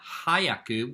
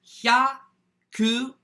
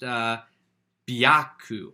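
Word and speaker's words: 百: This is 2 syllables, not 3, like hurry is hayaku. 100 is hyaku, hyaku, 100. Anyway, hyaku, it can also sometimes be pronounced byaku, or occasionally pyaku, but, you know, that's less common.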